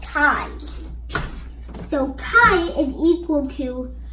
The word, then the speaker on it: chi: Do not pronounce it like key, pronounce it like chi.